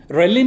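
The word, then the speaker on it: ghrelin: the stomach is empty reline is uh absorbed relin it is spelled like g h r e l i n and when this stomach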